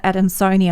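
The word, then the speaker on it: adansonii: the UK it's the monster and I'm gonna pronounce it ad in Sony I yeah incorrectly referred to and there was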